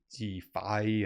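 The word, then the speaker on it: DeFAI: that people are branding Defi and I'm pronouncing it like that because it's defi d f AI so AI plus defi some people are calling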